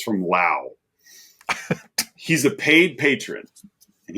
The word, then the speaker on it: Lou: letterbox from from from it's spelled Lou but he says rhymes with wow so it's from Lao he's a paid Patron